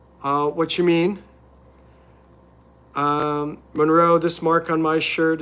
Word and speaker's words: Monroe: My name is It's pronounced Monroe.